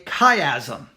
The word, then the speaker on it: chiasm: let me spell this word out chiasm it is spelled CH I a SM CH I ASM it is pronounced chiasm chiastic